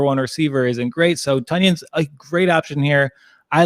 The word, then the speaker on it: Tonyan: And I love that when he corrected announcers on how to pronounce his name, he said it was like Funyun, not onion.